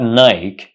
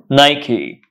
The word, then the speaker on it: Nike: products of this company do you say Nike it's not Nike it's pronounced Nike Nike Nike Nike so a pair of Nike shoes so we don't say Nike it's Nike the next time you